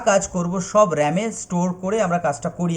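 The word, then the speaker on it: RAM: R capital R এ এম আমরা লিখব, র্যাম উচ্চারণ করব, র্যান্ডম অ্যাক্সেস মেমোরি।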